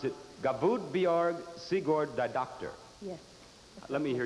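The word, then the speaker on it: Guðbjörg Sigurðardóttir: have time for an interview join us you pronounce it bjerg siegord the doctor yes yes let me hear you say it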